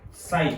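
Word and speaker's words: psi: इट is represented by साई, P silent रहता है, इसको हम शाई नाम देंगे।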